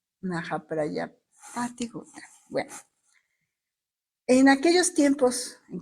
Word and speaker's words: Mahaprajapati Gautami: espero pronunciarlo bien, de Mahaprajapati Gautama. Mahaprajapati Gautama. Era la madre de Buda, ¿no? Exactamente. Gautami, aquí dice Gautami, fíjate. Mahaprajapati Gautami.